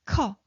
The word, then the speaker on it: 커: 커. Did you hear that? It's a burst of air.